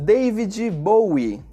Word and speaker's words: David Bowie: In Brazil we say David Bowie. When we have a word that ends with a strong consonant, like the letter D for example, we always add an additional I sound to the end